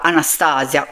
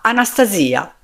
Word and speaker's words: Anastasia: Per renderle giustizia, ha voluto sentire la pronuncia russa del suo nome e non chiamarla Anastasia, come capita in molti altri contesti, ma Anastasia, proprio come era il suo nome.